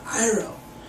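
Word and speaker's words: Iroh: of the fire nation his uncle is named iro not hero you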